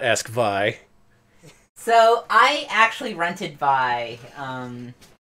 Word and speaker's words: Vay: It's called Vi, and it's spelled Vay, but it's pronounced Vi. This is probably the least liked of their Sega CD games. Not many fans of Vi out there.